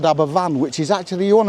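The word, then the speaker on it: Aberfan: school in in Wales in a place called Abberan which is actually you want to Google it. It was actually it's actually spelled Aba Fan but it's it's pronounced Aban.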